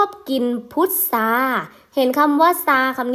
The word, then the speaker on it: พุทรา: พุทรา เห็น คำ ว่า ซา คำ นี้ ไหม คะ อา ทร ออก เสียง เป็น เสียง ศ. โซโล นั่น เอง นะ คะ หน้า ต่อ